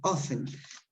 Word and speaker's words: often: social media okay yes number two often T is not pronounced okay I could see